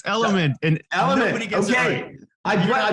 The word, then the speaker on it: Elumynt: Elumynt? No, but that's okay. It's Elumynt. And Elumynt. Okay. I butchered it.